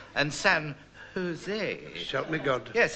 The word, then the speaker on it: San Jose: it's San Juan and San Jose shout me God yes in Spain they always pronounce the J's as H when do you think